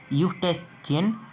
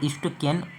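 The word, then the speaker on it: Eustachian: हम एक ट्यूब देखेंगे, इसे हम बोलते हैं यूस्टेचियन या फिर यूस्टेकियन, कुछ भी बोल सकते हैं, इसको ट्यूब बोलते हैं, अलग अलग प्रोनाउंसिएशन हो सकता है।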